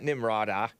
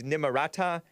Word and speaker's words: Nimarata: Nimarata, it's not Nimrata, it's Nimarata.